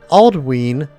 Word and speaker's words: Aldwin: Aldwin is pronounced Aldween. because of the long vowel sounding on the Y.